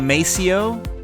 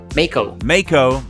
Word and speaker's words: Maceo: May 28th, is it Maceo? Mako. I said it wrong.